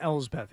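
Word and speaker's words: Elsbeth: Ellth, I think it's a L's Beth.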